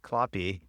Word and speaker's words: Kloppe: Well, since his last name is Kloppe, which rhymes with choppy, I'm thinking, do you prefer to swim in choppy open water or clean glassy water?